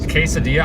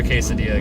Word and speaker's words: quesadilla: Quesadilla, I can't do a quesadilla, guys. That's too much. I just learned how to say it. I always thought it was like quesadilla, but it's apparently quesadilla.